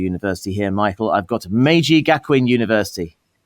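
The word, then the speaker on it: Meiji Gakuin: at uh I just need to check the pronunciation of your university here, Michael, I've got Maji Gakwin University.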